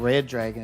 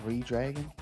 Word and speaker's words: Redragon: I guess it's not Red Dragon. It's Redragon. Redragon.